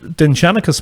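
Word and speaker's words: Dindshenchas: And the Dinshanachus material, actually the proper pronunciation in modern Irish is Dinshanachus.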